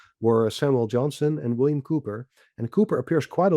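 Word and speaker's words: Cowper: And next to that we have William uh it's spelled Kalper but pronounced Cooper.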